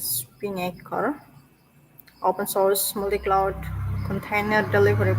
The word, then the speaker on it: Spinnaker: This pronunciation is Spinnaker, open source multi-cloud container delivery platform.